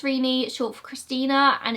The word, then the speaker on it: Renee: Yes, it's definitely pronounced Rene, short for Christina, and it's not Renee.